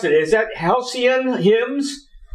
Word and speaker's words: Halcyon Hymns: How do you pronounce it? Is that Halcyon Hymns? Halcyon Hymns.